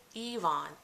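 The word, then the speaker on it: Evonne: My first name is Yvonne, spelled with an E, because if you look up Yvonne, it is spelled with a Y, because that's the French origin. And my mother wanted to name me the way it was pronounced.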